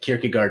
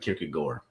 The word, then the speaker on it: Kierkegaard: It's like Kierkegaard and Kierkegaard. Ways of saying things if you're a nerd.